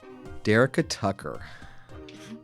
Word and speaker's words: Dyricka Tucker: Dyricka Tucker. Am I pronouncing that right?